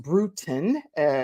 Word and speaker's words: Brutin: Lori Lori brutin is pronounced brutin like kind of brewing a tea type of thing and she is a